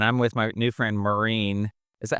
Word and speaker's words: Maureen: And I'm with my new friend, Meen.